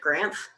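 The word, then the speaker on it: Granth: I'm going to say it's a fellow named Grant. Spelled like Grant, but with an H at the end.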